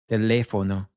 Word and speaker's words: teléfono: the second last syllable, we'll instead place the stress right here, this letter with the accent. Teléfono. Let's break it down. So we have te, le, fono, teléfono.